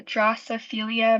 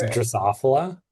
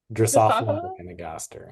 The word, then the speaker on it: Drosophila: So, Drosophilia melan melanogaster. Close. You're close. It's Drosophila. Drosophila.